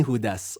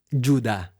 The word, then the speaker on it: Juda: ang sulat ni hudas o mas tama juda ayon sa bigkas ng kanyang pangalan sa Greek at sa Hebrew si juda ay isa